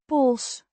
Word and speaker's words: pols: Pols. With a short O. sounds similar to the O in hot.